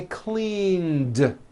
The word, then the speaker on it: cleaned: that here's another example clean ends with a voiced n so today i clean yesterday i cleaned i cleaned the kitchen